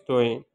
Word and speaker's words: Toeen: In Urdu, we pronunciate like this, Toeen, but we write like this, Toeen. So this is, or in Arabic, we call it Toa, okay? But in Urdu, we call it Toeen.